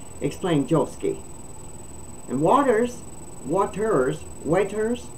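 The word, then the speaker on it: Watters: joski and Waters Waters waiters maybe it's pronounced different because it's not Waters it's w-a-t-t-e-r-s to me it would be waiters press uh Joe ski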